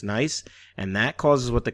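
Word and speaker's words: gneiss: Uh the G, you don't pronounce the the G, but it's spelled with a G, but it's pronounced nice.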